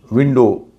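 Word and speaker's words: window: स्नो, विंडो, विंडो में भी OW आखिर में है, लेकिन W का उच्चारण नहीं होता, तो यहाँ पर उसका उच्चारण होगा विंडो।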